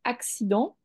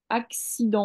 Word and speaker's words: accident: tu veux faire accident parce que tu sens tuentends le le axi donc tu veux faire un X mais ça s'écrit pas comme ça çaécrit avec de C pour faire le accident en fait ça fait le ha le ha avec le AC et sident avec le le reste comme ça et en fait